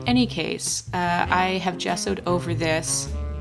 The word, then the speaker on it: gesso: case uh I have gessoed over this am I pronouncing that right yeah it's a hard G I think gesso um as my base